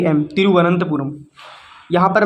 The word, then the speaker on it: तिरुवनंतपुरम: यहां प लिख रहा हूं आर ए एम तिरुवनंतपुरम यहां पर मैं अच्छे से लिख देता हूं